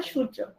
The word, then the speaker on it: সূর্য: কারণ হচ্ছে রেফের পরে ব্যঞ্জন বর্ণের দ্বিত্ব উচ্চারণ হয় না।